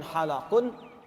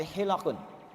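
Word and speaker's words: حلق: Perhatikan cara bacanya, bukan halaqun tapi hilaqun.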